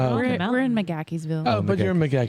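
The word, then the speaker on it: McGaheysville: McGackey'sville.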